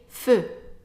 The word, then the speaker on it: feux: Now for the word feu, we actually going to pronounce it the same way as the singular form, even though we have an X at the end, because that X is silent anyway.